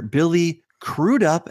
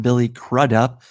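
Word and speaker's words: Billy Crudup: would say but Robert Meer Bernett is three-pointer Billy cruded up as Dr Manhattan not Billy crud up as Robert said as a lot of people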